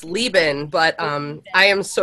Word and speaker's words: Leban: Bruce writer and Lebon is that did I say your names correctly it's it's Leoben but um I am